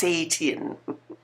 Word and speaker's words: Setian: I hope that I pronounced the name wrong, and it's most especially the last name Setian, because I don't want to call you Satan. It's Setian.